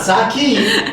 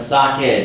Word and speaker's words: sake: And for listeners, you may have noticed Brittanie has been to Japan before, and she knows how to pronounce sake. Not sake, but sake.